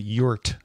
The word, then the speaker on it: EURT: I do want to pronounce it yurt, the E-U-R-T.